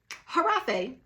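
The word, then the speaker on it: Hiraffe: a f f e it's pronounced that way but it's spelled regular giraffe way all right so if y'all want to know who harafee is this is harafe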